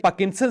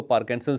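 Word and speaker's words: Parkinson: हैं इंगश में लेकिन इसे लिखा पार्किंसन चाहता है और बहुत सारे लोग इसको पार्किंसन भी कहते हैं मैं खुद पार्किंसन कहता हूं अक्सर लेकिन ये बीमारी असल में पर्किंसन है आर इसके अंदर साइलेंट है अब सवाल यह है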